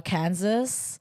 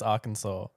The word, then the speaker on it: Arkansas: Um, uh, Kansas. That's the That's not even how you say it. What? I swear it's Arkansas.